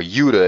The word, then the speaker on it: Judah: of the tribe of Judah or Yuda if you try to pronounce it correctly which consisted of only